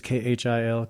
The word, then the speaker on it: Khil: It's Khil, Khil.